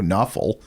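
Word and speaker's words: Nawfal: Um, and a guy named Mario Knuffle, which rhymes with awful, which I imagine is probably what this podcast is.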